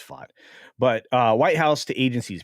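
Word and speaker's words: Vought: Anyway, I always say his name Voight. It's not Voight, it's Fott.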